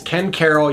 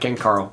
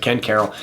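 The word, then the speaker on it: Ken Caryl: And then the last one I got to talk about is Ken Carroll. Yes, that's how we pronounce it, not Ken Carl. We pronounce it Ken Carol.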